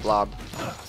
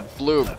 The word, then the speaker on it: Bloob: Plinky blob. No, it's a bloob. Damn it, stop saying blob. It's a bloob.